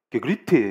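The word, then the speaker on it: γέγραπται: 그래서 그게 헬라어로 게그렙타이 이러는데 제가 이거를 네이티브 발음을 들었는데 게그립테 이러더라고요. 그래서 포기했어요. 그냥 나는 게그립타이 이렇게 할래.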